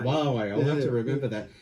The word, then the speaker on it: Huawei: You never know how to That's pronounce with an it. H, right? That's with an How H. do you say that? Huawei. Huawei.